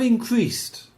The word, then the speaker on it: increased: Inequality Inequality and precarious working conditions and precarious working conditions have increased. have increased. How do you pronounce this D? Increased. No, it's pronounced a T.